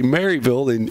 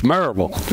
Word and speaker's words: Maryville: Nobody else knows how. They'll say Maryville, and you say it just like we all say. It's Maryville. Yeah.